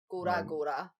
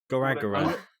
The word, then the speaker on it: Gorogoa: It's not Gora Gora, like Bora Go- Bora. Gorogoa.